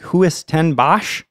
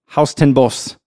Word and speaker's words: Huis Ten Bosch: So when I first saw it, I'm like, Huis ten Bosch? I don't know how it's pronounced in Dutch, but right. I watched a video. Haus ten Bos is how it's pronounced in Japanese.